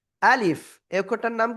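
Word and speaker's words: ألف: আ শক্ত, লিফ শেষে এসে নিচে ঠোঁটের পেট উপরের দুই দাঁতের আগার সাথে লাগবে। এই যে আমার দিকে তাকাবেন, আমার দিকে। লাগিয়ে হালকা বাতাস বের করতে হবে। আলিফ, কোনো টান হবে না। আলিফ, কোনো টান কিন্তু দেওয়া যাবে না।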